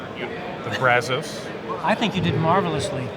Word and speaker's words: Brazos: Hopefully I pronounced the river right. The Brazos.